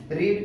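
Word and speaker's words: read: Verb का third form रीड का हो जाएगा रेड, स्पेलिंग सेम होगी, इसका आर्टिकुलेशन चेंज हो जाएगा।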